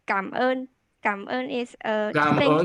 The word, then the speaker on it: cảm ơn: Yeah, good pronounce. Thank you. Yeah, xin chào. Okay. Thank you, thank you. You can say cảm ơn.